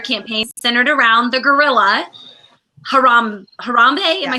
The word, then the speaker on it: Harambe: Not only is Nick a phenomenal young man, but he is the brains behind this genius Kickstarter campaign centered around the gorilla, Harambe.